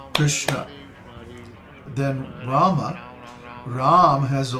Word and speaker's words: Krishna: long similarly the word krishna is only two padas long because each of the vowels in krishna is a short pada a short syllable krsna then rama rama has